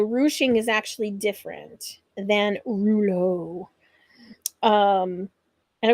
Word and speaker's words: rouleaux: is actually different than Rulo um and of course I love the e Au ux on the the French word Rulo um and this technique